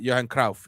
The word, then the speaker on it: Johan Cruyff: team was a certain johan cruyff right johan krauf is how they say it yeah and he was